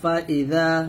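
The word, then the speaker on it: فإذا: জা আ ফা ইজা এই জাল উচ্চারণটা করবেন জিহ্বার আগা সামনের উপরের দুই হাতের আগার সঙ্গে লাগিয়ে এই জালটা উচ্চারণ করবেন আর এই জাটা জিমটা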